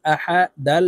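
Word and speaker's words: أحد: আ হা জবর হা আহা দাল দুই পেশ দুন আহাদুন দালকে ওয়াকফুর ক্ষেত্রে সাকিন করে ফেলবো দাল যেহেতু কলকলার হরফ নিচের দিকে ধাবিত করে ধাক্কা দিয়ে উচ্চারণ করব আহাদে আহাদে কুফুয়ান আহাদে ওয়ালাম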